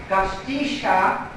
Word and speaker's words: Gostisha: Bob Gostisha learned how to say his name because he told me if I just couldn't pronounce it, to pretend that I was sneezing. And that would be approximately the way you pronounce his name.